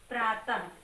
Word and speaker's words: प्रातः: जैसे ये है प्रातः, है ना, प्रातः, तो ये बिंदी जो है वो विसर्ग है और इसका उच्चारण क्या है, हा से है ना, प्रातः।